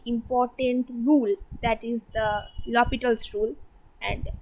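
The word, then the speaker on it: L'Hôpital's: rule that is the lopital's rule and this is pronounced as lopitals don't pronounce it as l hospital this is lobitos lopitals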